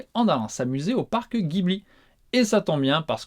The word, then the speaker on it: Ghibli: Alors, avant de vous donner des nouvelles, oui, je sais, j'ai prononcé Ghibli volontairement parce que je parle en français, hein, oui, et qu'en France on prononce comme ça.